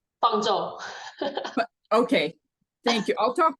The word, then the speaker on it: Fangzhou: to Dr Wang and I I'll get the pronunciation right Fang say your first name fzo okay thank you I'll talk to I'll tell